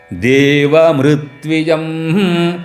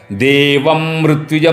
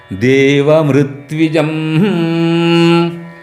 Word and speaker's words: देवमृत्विजम: उसके उत्तर में है, इसलिए मृ बहुत उसको जो है आसानी से बोलना है, उसको दबा के नहीं बोलना। देवमृत्विजम जो मृ है बहुत हल्का से बोलना। देवमृत्विजम सुनाई भी ना दे वैसा उसका उच्चारण, देवम मृत्विजम नहीं, देवमृत्विजम। होतारम होतारम रत्नधातमं रत्नधातमं रत्नधातमं रत्नधातमं।